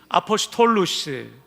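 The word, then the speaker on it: ἀποστόλους: 사도라는 단어는 대괄호 안에 제가 영어식 발음표를 써놨습니다. 한번 따라합시다. 투스, 아포스톨루스, 사도라는 단어입니다. 이 아포스톨루스라는 명사 앞에 정관사 투스가 하나 들어가 있습니다.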